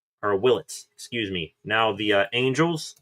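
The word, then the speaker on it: Willits: The first overall pick, Washington selects shortstop, Eli Willis or Willlets, excuse me.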